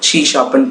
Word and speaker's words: C#: ஷீ ஆஸ்டிக்கை எப்படி pronounce பண்ணாங்கன்னா ஷீ ஷாப்னு pronounce பண்ணாங்க. ஷீ ஷாப்புங்கிறது object oriented programming language.